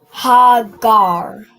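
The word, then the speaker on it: הגר: Not gra but gar right when you join it ga and a ra it becomes gar right. So how would you pronounce this full this full phrase? Mommy. So you have this last part is gar and the first part is what? Hagar. Hagar. Perfect. All right. You pronounce this as hagar.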